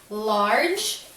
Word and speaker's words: large: doesn't matter alright now if a word ends with a silent e look at this word large do you pronounce the e it's silent it is so shy that